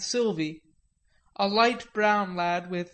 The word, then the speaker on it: Sylvia: We revelled in the fact that Davy and Aunt Sylvia, pronounced Aunt Sylvie, a light brown lad